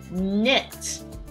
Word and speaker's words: knit: number two very similarly knit knit one Purl two there is a k at the beginning you may be tempted to spell it n-i-t but you would be